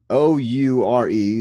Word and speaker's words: Oure: Oure, O-U-R-E. They pronounced it on the show, but I forgot how to actually pronounce it. I think you got it right. I think it's Oure. Oure.